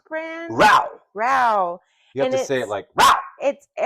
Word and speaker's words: Rao's: It's Rao's brand. Row.